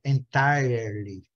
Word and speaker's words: entirely: Não tem o R, não. O R só tem no britânico.